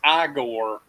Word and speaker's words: Igor: his name is Frankenstein eigor is like you're having me on and it's only after that that he asked him what his name is and he says aore to correct his pronunciation the question is is